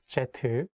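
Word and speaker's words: 제트: as you know um jet should be pronounced as jetu I never had a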